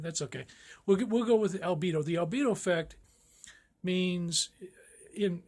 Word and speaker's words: albedo: you hear that I'm my pronunciation is not this clear but its albedo now it's a latin word and it comes from white the Latin word for white I think it's like albino